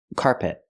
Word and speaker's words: carpet: cannot say carpet carpet I cannot stress both syllables I stress the first syllable so it's carpet carpet the second syllable is not stressed it's closed and relaxed p p not carpet but carpet carpet example he's installing